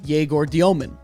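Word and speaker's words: Egor Dëmin: And I'm going to start with their earliest pick, Jaor Diomomen, right?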